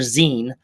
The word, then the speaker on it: zine: Um, but no, it's Zen. It's short for magazine or fan Zen. Yeah. Um there are three different there when you're talking about zi or zen you're talking about one of three different things.